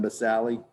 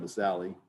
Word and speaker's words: basale: So this bracket right here that says stratum basale. The stratum basale, which means stratum means layer, basale, not basale, don't say that. In Latin, you pronounce all the vowels.